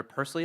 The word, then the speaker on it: Pursley: Senator Pursley, it's pronounced.